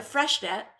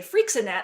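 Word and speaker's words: Freixenet: I am drinking the Fresh net I only recently learned how to pronounce that I used to say freenet like it was some sort of hairspray but and some people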